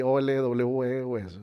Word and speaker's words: Olweus: El término bullying lo acuñó un personaje, un psicólogo, psiquiatra noruego, que se llama Dan Olweus, se escribe así O-L-W-E-U-S, se pronuncia Olweus, un tema ahí medio raro de idioma, ¿no?